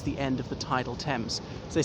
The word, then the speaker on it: Thames: pronounced like that obviously the th in thames is not pronounced as a th as pronounced as a